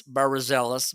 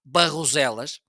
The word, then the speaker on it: Barroselas: Okay, Barroselas, and Alexa say it's Barroselas, but the right way to say it's Barroselas. It's located on the other side of the street.